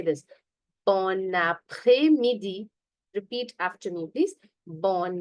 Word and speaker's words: après-midi: Bon après-midi. Repeat after me, please. Bon après-midi. Okay, here there is a liaison, if you see, and S here is not going to be pronounced.